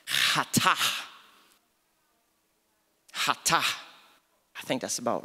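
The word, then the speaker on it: חטא: It's spelled K-H-A-T-A, pronounced hatah.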